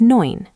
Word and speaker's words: neun: Nine is neun, nine. Sounds like noin.